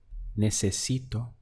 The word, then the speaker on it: necesito: I need would be necesito let's count the syllables we have nay say Si toe necesito is I need if